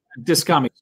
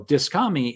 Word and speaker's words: Dyskami: And I know I'm pronouncing it because you actually said before the emphasis is supposed to be on the dis, but I can't do it. Yeah, Dyskami.